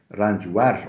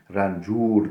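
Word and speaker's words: رنجور: Mesela dedik ya rancver olması gerekirken rancur diyoruz. Çünkü tek heceliye eklenmiş.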